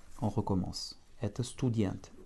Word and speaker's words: студент: Student, avec un accent tonique sur la dernière syllabe.